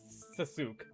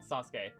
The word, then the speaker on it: Sasuke: In Japan, they would never pronounce it like suk. They would they would pronounce sasuke as sas as a sasuke.